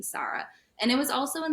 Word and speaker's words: Sara: I was like yeah my name is Sara and if they'll say Sarah I'm like oh it's actually pronounced Sara and like no questions